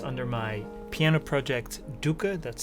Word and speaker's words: Doeke: It's under my piano project Doeke, that's spelled D-O-E-K-E, and I hope you give it a listen.